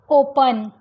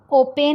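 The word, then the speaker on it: open: ओपन, ओपेन नहीं बोलेंगे इसको, हम बोलेंगे ओपन।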